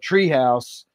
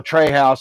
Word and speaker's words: Tre House: But the place I went to is called Tree House, or Trey House, however you want to pronounce that. It's TRE House.